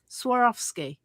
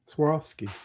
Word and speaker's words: Swarovski: Swarovski. Swarovski, yeah.